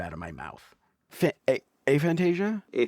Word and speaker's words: aphantasia: A aphantasia. Aphantasia. Fant aphantasia.